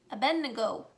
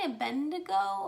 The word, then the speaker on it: Abednego: about shadrach meshach and abednego i always say a bendigo i always put the n before the d but apparently that's not how that's spelled so it's a bed nego so those are um